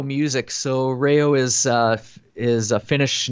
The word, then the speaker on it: Reijo: social media yeah it's Rayo music so rayou is is a finished name so it's spelt a little bit different REI Jo so rails the J is silent so rail music Instagram